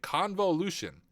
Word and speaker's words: convolution: times as needed the first step is Con convolution is actually how you say it convolution the math is about